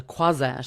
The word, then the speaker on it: Croisette: day before down Le Croisette, which is where my friend has a big Botox practice. And then it was just so funny. I just was like, oh, noisette rhymes with croisette.